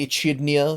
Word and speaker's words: Echidna: Um but we have uh a big a giant big brother style a kidna head. Sorry, Echidna because that's how you say it now.